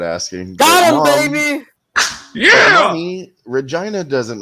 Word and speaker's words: Regina: she lived in Regina yeah Regina rhymes with vagina yeah it's the city